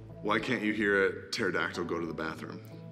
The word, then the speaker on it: pterodactyl: can't you hear it pterodactyl go to the bathroom cuz the P is silent what is Whitney Houston's